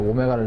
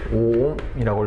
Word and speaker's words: 옴: 그래서 오메가를 읽으시면 안 되고요. 얘는 5옴이라고 읽어주시면 돼요.